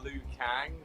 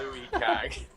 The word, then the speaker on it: Liu Kang: I would pronounce it Liu Kang, not Louis Kang.